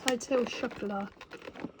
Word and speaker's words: Hotel Chocolat: the other day and that is how it's pronounced Hotel shuffler right store number two oh and this is